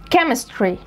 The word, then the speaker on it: chemistry: طب الكلمات ديت بتتنطق كي، كي، فانا بقولها technology. دي الشواذ بتوعها، technology، technical، mechanic، psychology، alchemist، biochemistry، chemistry، chemist، character، character، echo، mocha cafe، orchestra، physical، scholarship، scholarship، school.